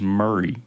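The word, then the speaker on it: Maury: there if you see the county you'll probably pronounce it Mari County just so everyone who's listening knows it is Murray County so you might see it as Mari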